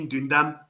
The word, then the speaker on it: Ndundam: serait mieux de dire Ndundam. Allez-y, dites Ndundam. Allez-y, prononcez Ndundam. Ndundam. Jindam. Voilà comment on appelle ça Ndundum ou bien Ndundam.